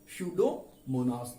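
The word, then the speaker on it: Pseudomonas: तो इसका एक एग्जांपल देख लीजिए, दैट इज स्यूडोमोनास। यहां पर दिस पी इज साइलेंट।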